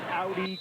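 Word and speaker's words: Ari: and this is Audi crew it's spelled a r i but at the press conference yesterday she says I want it pronounced like the car Audi and here we go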